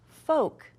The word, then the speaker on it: folk: word, I know that my L is actually gonna be one of my ghost letters because this word is pronounced foke.